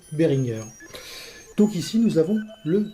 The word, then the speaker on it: Behringer: présenter sa société et il prononce behringer bien que ces sociétés soient pourrait majorité anglaise bien que la majorité des gens le prononce al anglaise eh bien nous allons faire comme pour monsieur mug nous allons respecter la parole du premier intéressé et donc l'appeler behringer donc ici nous avons